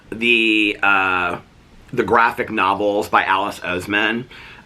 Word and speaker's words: Oseman: They're based on the graphic novels by Alice Oseman. I think that's not how you pronounce her name. I think her name is pronounced Alice Osman or something like that, but it's Oseman.